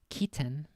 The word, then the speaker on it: chitin: So chitin is pronounced Keaton.